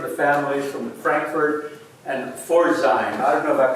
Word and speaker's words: Pforzheim: who came from the families from Frankfurt and Pforzheim. I don't know if I pronounced that right. Pforzheim.